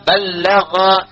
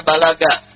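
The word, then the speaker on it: بلّغ: Kalau disebutkan muballigh nomor 1, dari kata ballagha yuballighu. Ya. Ballagha dibacanya, bukan bahasa Sunda balaga, ya.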